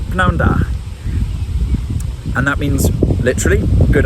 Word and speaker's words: prynhawn da: Just pronouncing that p at the start, prynhawn da.